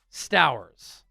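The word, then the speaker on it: Stowers: And PFF goes with a tight end here, Eli Sters. Rhymes with flowers.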